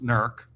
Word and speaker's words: Newark: and I said well first of all it's pronounced nerk but Yeah.